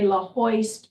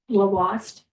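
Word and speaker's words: Lhoist: We say La Hoist, but it's pronounced Lavoist.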